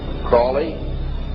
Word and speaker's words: Crowley: learned about was aliser Crawley he likes to BR have his name pronounced Crowley to rhyme with holy and uh these satanists